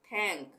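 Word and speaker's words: think: हम क्या पढ़ते हैं थैंक टी एच के लिए थ या थैंक्स उसी तरह से टी एच आई एन के ये टी एच आ रहा है एक साथ तो तो थिंक उसी तरह से बाथ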